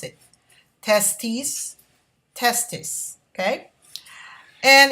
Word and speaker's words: testis: of testis and listen to the way i pronounce it testes testis okay and it's also known as testicles so